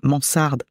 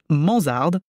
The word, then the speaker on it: mansarde: sur le fait que je m'obstine à prononcer Mansard manzard dans le podcast mais bon entre un Z et un S bonjour ellisabeth bonjour iris